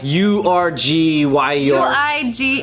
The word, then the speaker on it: Uyghur: Whoa, that is not how I thought that would be pronounced. It's like URGYUR.